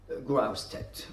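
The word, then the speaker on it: Grosseteste: Et voilà, au milieu du Moyen-Âge, nous avons un homme intéressant dans notre contexte, Robert Grust. Oui, on prononce ce mot Growed en anglais.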